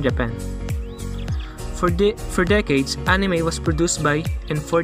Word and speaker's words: anime: over japan anime the word anime pronounced as enemy it is an abbreviation